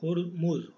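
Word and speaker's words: Hormuz: Oman और Iran को connect करने वाला जो चैनल है, that is straight of हुमूर्स, sorry होरमुज, होरमुज, ठीक है। आप हिंदी में कर सकते हैं होमुर्स, ठीक है, होमुर्स इसको प्रोनाउंस करेंगे।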